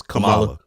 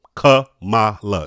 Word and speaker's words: Kamala: I I think that the the the Kamala Kamala I don't even know how to pronounce a lady's name. I feel bad every time I try to It's Kamala. Kamala. It's three syllables.